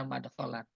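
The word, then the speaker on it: مدخلا: Qaulu madkhalan bi fathil mim wal kha. Bainahuma dal sakinah. Benar bacanya madkhalan.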